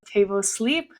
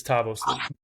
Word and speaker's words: Tabo Sleep: But you did butcher the the company name though. It's it's Tabo Sleep.